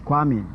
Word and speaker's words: Kwame: My own name is Kwame, but in pronunciation it becomes corrected to Kwame.